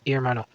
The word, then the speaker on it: hermano: The Spanish word hermano, pronounced hermano, means brother.